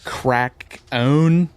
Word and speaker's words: Krakoan: Crack-own? The Crack-own Age? Is that what that is? The Crack-own? Yep, that's how you do it.